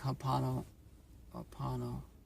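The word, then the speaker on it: ho'oponopono: I also like hopano opano.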